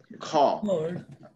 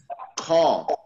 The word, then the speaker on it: খ: matra not the full matra there ঠিক আছে kha so some of you may have an issue with pronouncing this like kha kha আর একটা হচ্ছে ক প্রথমটা হচ্ছে like